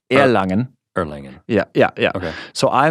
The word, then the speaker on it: Erlangen: And the Americans like Erlangen is how you will spell it, but Erlangen.